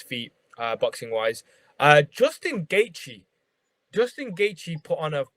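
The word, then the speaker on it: Gaethje: uh boxing wise uh justin gaichi justin gaichi put on a flipping amazing pocket i've always wanted to know how to pronounce his surname gagey right yeah so yeah he had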